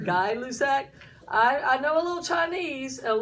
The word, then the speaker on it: Gay-Lussac: Now the next one is called, it looks like it says Gay-Lussac, but it's French, and I think it's pronounced Guy-Lussac.